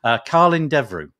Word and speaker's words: Colin Devroe: because I know that your name is not pronounced in the way that I probably would have said it first off. Colin Devroe.